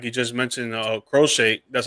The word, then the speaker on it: Crochet: Like you just mentioned, Crochet, that's how you pronounce his name.